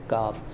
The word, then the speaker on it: ق: अगर समझाना चाहूं तो यह जो नुक्तों वाला काफ है गोल वाला इसको कहते हैं मोटा काफ और उसको हम प्रोनाउंस करेंगे थोड़े से हैवी अंदाज में मोटे अंदाज में ठीक है कौफ कौफ